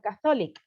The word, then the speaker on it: Catholic: second one is uh catholic catholic school catholic catholic no catholic wait catholic no no the stress is in the first syllable let me rate it